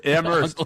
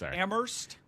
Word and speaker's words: Amherst: us at It's Ammerst. It's No, don't pronounce the H. Oh, it's not. It's Ammerst. Yes. Ammerst.